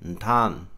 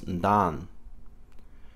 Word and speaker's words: ntan: For my daughter, you would say ntan, ntan. Alternately, you could pronounce this as ndan.